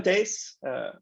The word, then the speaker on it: Thijs: Hi, I'm Thijs. I'll be presenting it today. Thijs is exactly how you pronounce this.